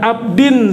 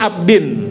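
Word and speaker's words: عَبْدٍ: wa atubu ilaihi taubata abdin zolimin. Nanti kalau teksnya tulisannya abdi dibacanya abdin. Dulu Ajengan Jejen pernah mengkoreksi. Jadi dibacanya harus dibaca ya abdin ya.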